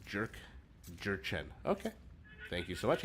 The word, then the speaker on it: Jurchen: You pronounce Jurchen right? Jurchen.